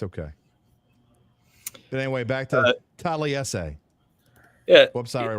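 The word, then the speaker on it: Taliese: Yeah, Taliesin.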